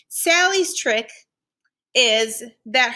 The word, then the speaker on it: Sally: So for her first name, Sally's trick is that her name Sally rhymes with the word rally.